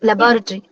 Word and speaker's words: laboratory: It's Laboratory. it's labo, not lab o. It's laboratory. Okay. So you get Yes, ma'am. five syllables like that.